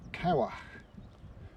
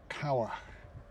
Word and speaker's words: Cywarch: It's Cywarch, and apparently it's pronounced as Cywarch, Cwm Cywarch, or that's as close as I can get to what he said.